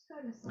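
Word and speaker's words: scolecite: And this could be very noticeable for some when working with skolite energy. I am pronouncing it right, aren't I? Skolasite.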